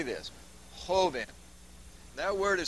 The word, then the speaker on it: joven: Say this, joven. That word is spelled J-O-V-E-N.